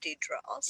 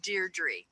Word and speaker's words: Deirdre: better from now on I always said it D troubles yeah is Deirdre oh so good she